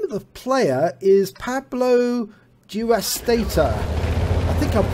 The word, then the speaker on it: PabloDewastator: And the name of the player is PabloDewastator. I think I've pronounced that correctly. Dewastator, as with a D.